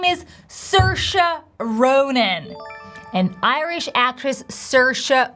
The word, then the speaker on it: Saoirse Ronan: You see sound er, same as in her, schwa, Saoirse, Saoirse, super simple. Ronan, diphthong O, stress on the first syllable, Ronan. Saoirse Ronan. And don't forget, if we have first name and the last name, we'll be stressing the last name.